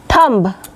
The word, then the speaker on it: thumb: castle castle T silent thumb B silent ब धबी दो बांग